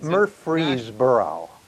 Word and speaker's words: Murfreesboro: And it's in, and I have trouble with this pronunciation of the town, so I'll just say somewhere in Tennessee. Murfreesboro.